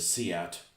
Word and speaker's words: SEAT: I don't know what the hell they abbreviate what the abbreviation is for, but they they pronounce it seat. like it was a name instead of an abbreviation instead of like s